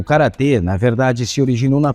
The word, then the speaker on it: Gaya: Bloomington, chamado Christopher Beckwith, a ortografia Gaia é a leitura coreana moderna dos caracteres usados para escrever o nome, enquanto a pronúncia correta seria Kara.